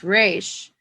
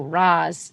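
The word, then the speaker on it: Ra's: And so his name is Arabic, and so Raz is the correct pronunciation.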